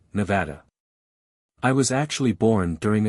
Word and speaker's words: Nevada: No, I said, and I used the English pronunciation, Nevada.